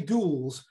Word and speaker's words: gules: is when you say gules, which is just red, and it's, you know, it looks kind of French, but it's pronounced in the English way.